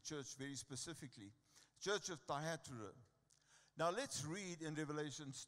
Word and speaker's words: Thyatira: And very specifically in the church of, how do I pronounce that word, Grant? Tyre, it's actually Thyatira or whatever. Thyatira, amen?